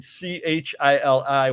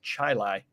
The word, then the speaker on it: Chili: And then we got Chili, which is pronounced Chili instead of chili.